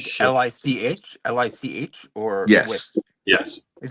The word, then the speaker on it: Lich: No, that was the Lich King. So Yeah. Oh, What was it it? hot. A Leech King? Yeah, no, that was World of Warcraft, Wrath of the Lich King. So, But like Shit. Lich, or yes.